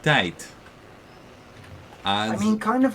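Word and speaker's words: tijd: consonant written there so you'll have words written t-i-j-d and they're pronounced not tied but tight I mean kind of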